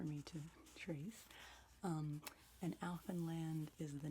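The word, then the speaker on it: Alphinland: are about writers so the first is called elfin land and that is spelled a-l-p-h-i-n-l-a-n-d would be too small for me to trace um and alfin land is the name of the fictitious world created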